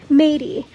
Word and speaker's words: Mady: Her name looks like it should be pronounced something else, but it's not. Oh, Mady. Her name is Mady, but it looks like Maddie.